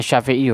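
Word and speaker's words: الشافعي: Badal jadi pengganti ya makanya bacanya as-syafi'i uh rodhiyallohu Anhu semoga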